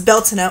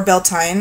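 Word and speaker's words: Beltane: i'm going to mention is bell tuna or bel tine I've heard it pronounced both ways and that is one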